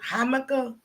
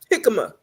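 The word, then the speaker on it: jícama: How you pronounce it? Hamaka? Jicama.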